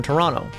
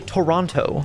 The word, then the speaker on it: Toronto: Well, there was a gentleman there visiting from Toronto. And yes, I say it like Toronto because I'm from Buffalo. That's how we say things here because we're like right across the river from Canada.